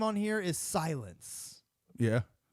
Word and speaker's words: Sylyn: And his name on here is Silence. Yeah. Silence. SYLYN. Silence, kind of. It's almost because it's almost spelled like silence from what's the game?